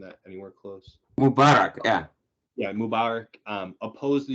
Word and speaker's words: Mubarak: Though President Mubarak, am I pronouncing that anywhere close? Mubarak, yeah.